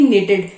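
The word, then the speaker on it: knitted: form क्या हो जाएगी निटेड ठीक है तो हम लोग इसमें जो के होता है वो साइलेंट होता है आप लोग सिंपली इसको बोलते हैं निटेड निट होती है वैसे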